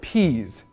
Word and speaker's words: peas: Еще одно слово с длинным звуком «и» — peas.